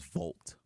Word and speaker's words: Volt: The correct pronunciation of this color or name is Volt. What's this? Volt green. Who cares? So, Volt green? Volt? Not like Bolt, but Volt.